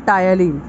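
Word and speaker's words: ptyalin: It contain an enzyme called टायलिन, P silent होता है।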